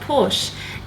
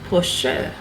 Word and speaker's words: Porsche: Did you know the correct pronunciation is not Porsche? It's actually 2 syllables, Porsche.